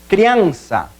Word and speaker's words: criança: Criança. Então, separação silábica, criança. Aí, então, a sílaba tônica seria crian. Por quê? Até porque é a que pronunciamos com mais força.